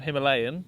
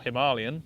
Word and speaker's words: Himalayan: it's a small old-school engine effectively if you think of the royal enfield himalayan which or himalayan whichever way you want to pronounce it this is like a